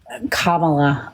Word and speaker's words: Kamala: I don't understand how Kamala Anda Kamala sorry did I say it right that time yeah yeah it's comma how all of his people